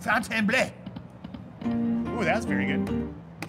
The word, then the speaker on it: Fontainebleau: The bleu. You gotta say it like you mean it. Fontainebleau.